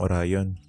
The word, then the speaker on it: Orion: Pero most notable ang Portinpin sa may bayan ng Orion. Sablay ang pronunciation ko sa bayan. Orion yon hindi Orion na parang yung mythical hero ng mga ancient Greeks.